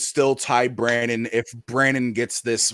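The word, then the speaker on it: Brannon: will I will tell you this it's not Brandon well it's Brandon be RA NN o n you know like people mispronouncing your nickname don't mispronounce his real name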